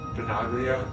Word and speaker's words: Benaglio: Bangilo or something. He plays for Wolfsburg. I can't pronounce that last name. Benaglio. It's Italian.